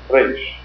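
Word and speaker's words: ריש: But in Arabic, in Farsi, and in the Latin language, except for French, the R is pronounced as Lashon HaKodesh Reish was, Reish.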